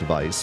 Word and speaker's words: Weiss: So vice in Japanese is written as Weiss, which is still pronounced vice, but uh W I